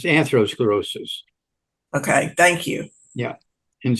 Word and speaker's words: atherosclerosis: if they're talking about arthrosclerosis they're talking about talking about um I'm probably not pronouncing it correctly it's atherosclerosis okay thank you yeah